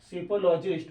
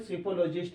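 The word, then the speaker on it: psephologist: में उसको बोलते हैं सिपोलॉजिस्ट। Once again सिपोलॉजिस्ट। इसमें जो पी है ना साइलेंट है।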